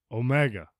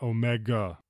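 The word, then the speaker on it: ωμέγα: And then the last one, which a lot of people already know, omega. This one, also a very light G, not omega.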